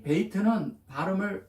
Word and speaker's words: בית: 이고 이 베이트는 비읍 발음을 시작으로 합니다.